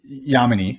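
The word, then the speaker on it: Yamini: this conversation without then uh talking about uh yamanei right and am i pronouncing her name correctly i want to make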